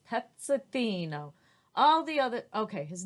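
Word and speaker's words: Pezzettino: says that that means little peace it is pronounced petzothino all the other okay his name was petzatino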